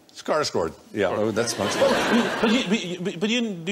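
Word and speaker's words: Skarsgård: original Swedish version and stellen scar with recently star good star good almost I understand yeah how how you pronounce it yeah scar G scar scord yeah that's but you do you know any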